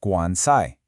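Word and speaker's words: 官财: But, and this is the key, a totally different set of characters that mean official and wealth are also pronounced guansai. They sound exactly the same.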